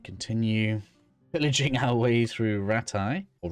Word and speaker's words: Rattay: pillaging our way through Rattay, or Rattay. I think they say Rattay in the game, right? But I say Rattay because that's how it's spelled.